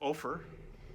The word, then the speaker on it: Ophir: Then on day 3, I decided to take you out to Ophir, rhymes with gopher, a little mining town where they had a big sign that said, "Go away, don't come in, we're virus free."